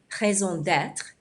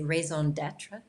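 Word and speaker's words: raison d'être: if we break down the French term hazel debt you've probably heard of it but as the Americans would say raison d'etre you can barely say it like that but hazel debt is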